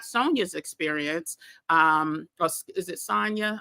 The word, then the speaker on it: Sonja: Hey, yeah, you said right the second time, Sonja.